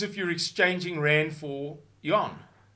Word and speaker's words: yuan: you're exchanging rand for yuan, or won as they pronounce it.